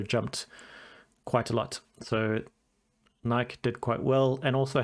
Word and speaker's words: Nike: So I don't invest in Nike, or Nike, depending on your pronunciation, but they had an incredible fourth quarter.